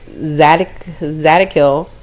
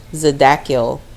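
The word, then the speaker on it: Zadkiel: It says Archangel Zad Zadakil. I pronounced that wrong. Zadakiel.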